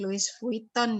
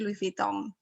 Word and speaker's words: Louis Vuitton: Ini membacanya bukan Louis Vuitton ya, tapi Louis Vuitton.